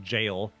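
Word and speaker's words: gaol: you in there Dowell I'm pretty sure that's pronounced jail is that the ready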